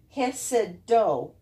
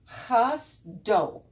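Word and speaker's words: חסדו: And instead of being Hesed-do, the vowels have changed. Chas-do, chas-do.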